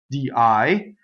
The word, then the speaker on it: dì: So notice the difference between of, di, of, and day, poetic, di, with an accent on the I.